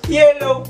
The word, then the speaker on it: yellow: Yellow, que es igualito, no tiene una doble L en su pronunciación. Yellow, no. Yellow, low, oh.